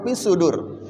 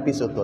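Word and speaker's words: في صدور: Harus pisudur. Jangan pisutur. Nah, untuk supaya pisudur bolak-balik berarti kan bacanya harus sering ya.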